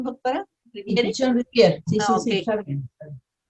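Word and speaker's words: Pichon-Rivière: ¿Es correcta la pronunciación, doctora? ¿Riviere? Pichón Riviere, sí, sí, okay.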